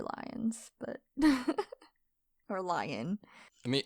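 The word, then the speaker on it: Lyonne: Because I always thought it was Leon. No, I'm pretty sure it's Lyons. There's no S. Lion.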